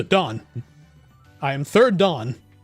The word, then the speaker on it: dan: I need to remember, it's Japanese pronunciation. It's da and then n. So Dan.